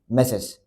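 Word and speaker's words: Messrs: अब हम MS को प्रोनाउंस कैसा करेंगे? मैसेस।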